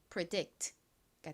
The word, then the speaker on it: predict: 연결하면 predict가 됩니다. predict이 단어 역시 뒷부분 dict 부분을 강조해서 발음해 주셔야 되는 단어입니다. predict의 의미가 뭘까요?이 이 단어는 미리 예측하다라는 의미를 가진 단어입니다.